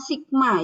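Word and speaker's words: σ: standar deviasi populasi dibacanya Sigma ya ini ya ini dibacanya Sigma ya membacanya adalah Sigma ini yang bacanya Ya bukan tahu ya tapi Sigma kalau tahu gitu ya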